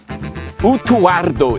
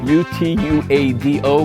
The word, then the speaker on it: Utuado: Yeah, it's spelled U-T-U-A-D-O, but I think it's pronounced more like the Spanish, rolling the R. Utuardo. Yes. I think so, but I'm not sure. They just skip over the D. Yeah, the R is too hard for people to pronounce, so they just left it off.